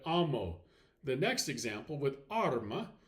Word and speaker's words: arma: The next example with arma, again, stress that first syllable of arma.